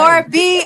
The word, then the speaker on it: Gorbea: ladies and gentlemen, I had to do this right here to know how to pronounce her name. Gorbea.